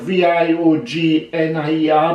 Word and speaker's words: Viognier: It's called Viognier, spelled V-I-O-G-N-I-E-R, but pronounced Viognier.